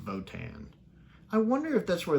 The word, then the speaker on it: Wotan: I keep forgetting it's actually pronounced Wotan.